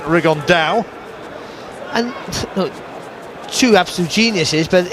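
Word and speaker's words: Rigondeaux: three weeks and he's T's talked about fighting riondo or as he's correctly pronounced with the uh Spanish accent rigon da and two absolute Geniuses but it could also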